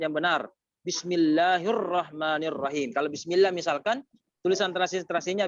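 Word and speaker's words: بسم الله الرحمن الرحيم: Pengucapan yang benar. Bismillahirrahmanirrahim.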